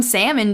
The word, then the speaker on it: salmon: You don't pronounce the L in salmon, do you?